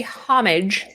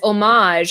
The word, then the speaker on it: homage: ways to pronounce it if you say homage that's more of like the uh I guess you would say French homage whereas omage is more of the American English translation both of them are